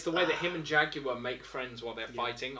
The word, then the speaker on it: Jaguar: But what I love is the fact, actually what I hate is the fact that the Americans pronounce it Jaguar. Jaguar, isn't it? It's Jagu.